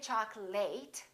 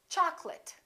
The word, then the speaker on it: chocolate: we say chocolate and remember don't say choc'late it's chocolate I'd like some chocolate